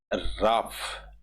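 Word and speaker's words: Ralph: एज राफ, L silent रहता है इसमें।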